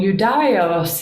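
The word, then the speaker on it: Ἰουδαῖος: about the pronunciation here when iota is at the beginning of a word it can have that y sound like i'm pronouncing it at least when it's in the middle of the word it's almost always just a straight vowel sound but why i picked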